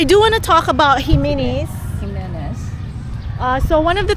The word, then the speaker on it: Jimenez: Jimenez.